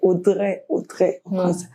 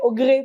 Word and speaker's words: Audrey: Les gens ne savent pas prononcer, les Camerounais ne savent pas prononcer mon nom, c'est Audrey. Tu le vois, dire Audrey, Augré parfois.